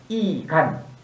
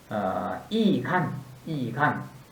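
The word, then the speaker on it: 易簡: 경우나 다 이로 똑같은데, 우리 한국 발음은 쉽다 할 때는 이로 읽고 바꾸다 할 때는 이제 바뀌다, 변하다 할 때는 역으로 읽죠. 여기서는 쉽다는 뜻으로서 이간 라는 표현입니다.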